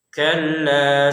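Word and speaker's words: كلا: Kalla sayaamun kalla saya'lamun kalla saya'lamun. Nah, di ayat yang keempat ini yang perlu kita tekankan adalah di atasnya lam di sini ada tasdidnya ya. Maka kita harus membacanya dengan tekanan kalla kalla.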